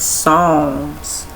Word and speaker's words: Psalms: Oh y'all palms really h I don't know why I keep thinking poems is like poem but it's songs the p is silent.